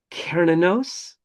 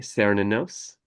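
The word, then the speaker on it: Cernunnos: know today by names such as hear and karinos. People also say sinos and uh apparently both are acceptable depending on um where you live.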